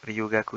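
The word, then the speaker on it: 留学: Ryugaku, c'est études étrangères.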